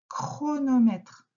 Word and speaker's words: chronomètre: C'est un chronomètre. Dans chronomètre, qu'est-ce que tu entends au début? Chronomètre. On entend le k d'abord.